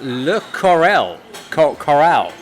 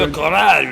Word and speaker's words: Le Corral: The word for coral in French simply coral, and you put the accent on the last syllable to give it a But you got to go, Le Corral, Le wow, and have a cigarette hanging on your mouth.